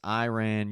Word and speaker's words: Iran: Iran is how they actually pronounce it. And I've heard Trump pronounce it a bunch of ways. It's Iran, you ran, they ran.